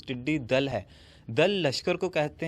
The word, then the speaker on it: ٹڈی دل: کرتا چلا جاؤں کہ یہ لفظ ٹڈی دل نہیں بلکہ اس کا اصل تلفظ ٹڈی دل ہے۔ دل لشکر کو